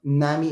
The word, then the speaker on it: NAMI: previously he was the exec executive director of nami indiana did that pronounce that right you got it perfect and